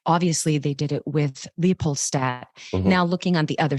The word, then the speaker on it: Leopoldstadt: LEOPOLDSTADT.